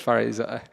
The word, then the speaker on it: Parizoda: Parizoda. Yes, Miss Parizoda. The reason why I'm having a hard time pronouncing her name is because usually she goes by the name Ada Rachel.